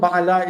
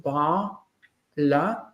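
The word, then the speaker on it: בעלה: In the form Ba'ala is based on a segulate pattern, which means that the syllable is closed. Ba'ala. And the ayin has a echo vowel.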